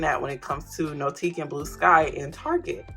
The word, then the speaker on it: NOTIQ: Founded in Texas and loved globally, NOTIQ, that's how to pronounce it, inspires meaningful and elegant living with an enchanted line.